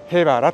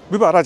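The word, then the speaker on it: 部原: て書いてですね、へばらと読みます。部ばらじゃないですね、ここはね、へばらと読みます。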